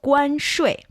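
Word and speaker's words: 关税: And tariff in Chinese is 关税. 关税. Perfect. Again, this is 关, that's the first tone. 税 is the fourth tone. So you're going 5-5-5-3, right?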